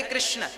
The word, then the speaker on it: कृष्ण: वेद मंत्र है ये शुद्ध उच्चारण इसका क्या है हरे राम हरे राम राम राम हरे हरे हरे कृष्ण हरे कृष्ण कृष्ण कृष्ण हरे हरे ये वेद मंत्र बोल